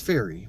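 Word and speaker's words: Feri: oh or fairy did I say fairy it's fairy why am I why did I say her name wrong this whole video oh man anyway um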